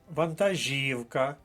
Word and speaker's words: вантажівка: до третьої колонки заєржавіти вантажівка наголос на третій склад третя колонка вантажівка мова йде про вантажний